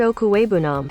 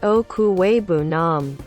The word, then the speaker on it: Okwuegbunam: Albert Okwuegbunam. Albert Okwuegbunam.